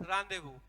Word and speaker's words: rendezvous: तो this is what, this is रांदेवू। तो अब यहाँ पे क्या हो गया, जो स्पेलिंग थी, दैट स्पेलिंग वाज डिफरेंट, लेकिन जो प्रोनाउंसिएशन है, वो प्रोनाउंसिएशन क्या हुआ? वो प्रोनाउंसिएशन हुआ बिल्कुल डिफरेंट।